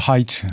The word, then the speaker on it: Hite: 그 로런스 하이트, 그러니까 약칭으로 레리 하이트. 근데 성인 HITE, 하이트 맥주 우리나라 브랜드 있지 않습니까? 그 스펠링이 같습니다.